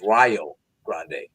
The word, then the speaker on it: Rio Grande: Grand Rio Grande 8379 excuse me it's R Grande that's how they say it 83 to 79 uh